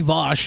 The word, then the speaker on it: Vaush: well counterpoint i'm not if you want it to be vosh you gotta spell it like josh then people can call you voss no joshua no one's calling you vouch then is it too